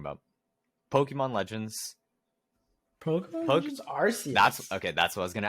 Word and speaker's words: Arceus: No, I've always pronounced it Arceus. When I've heard someone say Arceus for the first time, I just feel like that's been the colloquial way of saying it, is Arceus. Really, I've heard friends pronounce it Arceus, and I was very thrown off at first. But I guess both are technically correct.